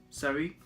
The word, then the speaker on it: Seri: the signing of Nice and Ivory Coast international Seri, that's pronounced his surname.